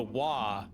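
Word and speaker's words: は: But the wa is the hiragana ha. So again, you're pronouncing the ha as a wa, which is a little confusing.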